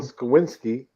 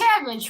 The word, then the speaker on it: Sienkiewicz: Bill Skowinski cover. There's Bill Poison Ivy Skowinski? and Heart. How do you pronounce his name, Roger?